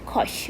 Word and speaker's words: cosh: the exponent form okay hyperbolic cosine is pronounced as kosh okay so we have